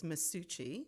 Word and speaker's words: Masucci: I always say it's Masucci. So it's like Gucci.